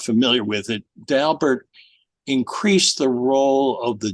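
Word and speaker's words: Daubert: dalbert which you correctly pronounced uh is frequently mispronounced as dobert or even by some stobs as do bear but Mr dalbert says his name is dalbert so I'm very glad you got that correct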